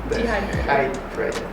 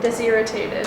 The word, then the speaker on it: dehydrated: Dehydrated. Dehydrated. Now you got it. Yeah, but You usually say it like desirritated. Deshydrated. Dehydrated.